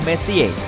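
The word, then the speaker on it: Messier: M adalah singkatan dari messie diucapkan Messi bukan Messi yang artinya lebih berantakan Charles messie persisnya adalah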